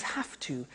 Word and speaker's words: have to: Notice I don't say V, I say F. Have. It becomes have to.